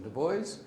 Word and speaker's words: Du Bois: The founding members included Du Bois. Am I pronouncing it right? The American version, Du Bois.